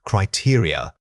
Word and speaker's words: criteria: The word is criteria. Say it again, criteria. Many speakers struggle with the final unstressed vowels. Remember that this word has an important stress pattern starting on the second syllable.